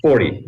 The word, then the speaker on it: Forte: your last name correctly is it for Forte do you use the Forte or do you use Fort uh 40 Mr Mayor 40 40 okay thank you